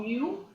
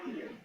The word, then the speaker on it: mu: This we call mu. How to pronounce? MU. Mu.